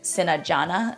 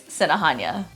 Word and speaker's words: Sinajana: Sinahanya. Sinahanya. Just a quick note, in the Chamorro alphabet, the English equivalent J is pronounced as Ha. So hence why I wouldn't say Sinajana, it's Sinahanya.